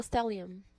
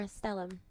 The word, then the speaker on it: stellium: Scorpio stellium or stellum, depending on how you pronounce it.